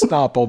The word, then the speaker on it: Snapple: choke and die on Snapple. And that made me laugh so much harder. Pronounced Snapple, but yes.